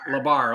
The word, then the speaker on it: La Barre: Labar.